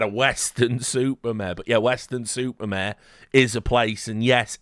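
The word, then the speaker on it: Weston-super-Mare: nightmare he had a western supermare but yeah Western super mayare is a place and yes it is pronounced exactly like that we've got labor they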